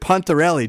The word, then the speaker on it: Pontarelli: On today's show, we're very excited to welcome, and I should have found out how to pronounce his last name before we started, Pontarelli, Joey Pontarelli.